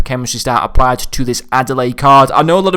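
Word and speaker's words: Adelaïde: I feel like I just pronounce it as Adelaide, like the city in Australia, so I'm just going to refer to him as Reine Adelaide.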